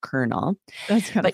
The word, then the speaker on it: colonel: If you ever see C-O-L period, that's short for colonel. You would pronounce that colonel.